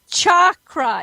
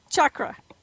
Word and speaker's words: chakra: to say this word it's chakra it's not chakra it's cha chakra chakra I have no phonic